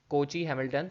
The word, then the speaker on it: Cayley-Hamilton: इफ़ आई am pronouncing it correct, बहुत सारे लोग इसको डिफरेंट तरीके से प्रोनाउंस करते हैं, ठीक है। I will say कोची हैमिल्टन theorem.